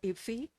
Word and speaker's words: IFFI: You pronounce it IFFI. Yeah, IFFI. Is the best way to pronounce IFFI, to get this wonderful honor.